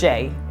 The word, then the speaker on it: Shea: called the Coco and I think it's pronounced sheay but it's spelled s he e a um they were